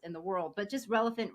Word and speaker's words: Relofant: But just Relevant rhymes with elephant, and I see that's kind of in your logo.